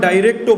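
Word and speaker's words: direct: অনেকে আবার ডাইরেক্টও বলে, তো প্রকৃত উচ্চারণটা ডিরেক্টই হবে।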